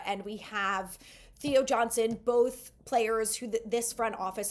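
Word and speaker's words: Mbow: I keep on calling him Embo just because that M is there. It's pronounced Bo, not Embo.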